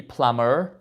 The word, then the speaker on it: plumber: Electrician, plumber, we don't pronounce the B, plumber, okay?